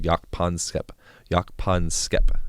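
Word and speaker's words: Jaak Panksepp: called yak pon skep yak pon skepa that's how you say his name um and he's he's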